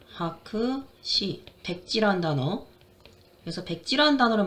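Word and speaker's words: 白紙: 자, 그래서 하크시, 하크시, 백지란 단어.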